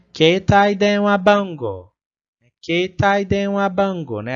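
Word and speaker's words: 携帯電話番号: A gente prolonga o som do E ali, né? Keitai denwa bango. E o som do U ali no final, que é o O, né? Que vai prolongar.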